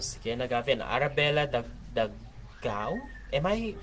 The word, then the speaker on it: Arabella: Arabella Dagao? Am I pronouncing it right? Arabella?